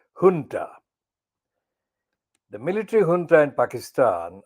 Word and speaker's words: junta: It's spelled junta, but it's pronounced in the Spanish, I think, junta.